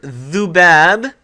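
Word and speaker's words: ذباب: Okay, so in our word dhubab, we have the dhaal, we hear the dhu, not dhu as with a long vowel, but a short u sound.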